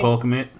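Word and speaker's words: Cole Kmet: Cole Commit?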